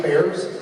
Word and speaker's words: Bexar: It's ironic because I hate bears. Talking about bears. But it's spelled Bexar. Bears.